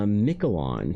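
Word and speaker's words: Miquelon: It's pronounced Michelon.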